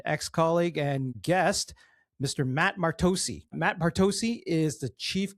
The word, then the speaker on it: Martocci: That's the Italian pronunciation, right? So there is nothing to correct. If you were asking me how to pronounce my last name, it's always been Martocci. That's what Grandma kind of softened it to, back in